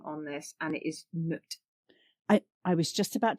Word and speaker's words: Nut: But it is pronounced noot. um like a like a double O in the middle and it is the mother of the sky and the guardian of the day.